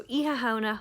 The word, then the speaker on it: Oíche Shamhna: similarly and the word eeha means night um in literal english iwahana together in irish means halloween so if you want to wish someone a happy halloween in irish you have to say either pronunciation is correct it just depends on where you're from in ireland so iha hana honodic